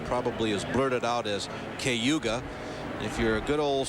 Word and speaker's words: Cayuga: But if you own the racetrack or are native to this area, it's a simple, nearly two-syllable word called Cayuga. This place should be nicknamed the Key because that's how it's said here, Cayuga.